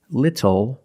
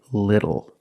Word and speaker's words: little: When you see TLE or TTLE, phonetically the T is between vowels. And for this reason, the T changes to a fast D in American pronunciation. That's why we do not say little, we say little.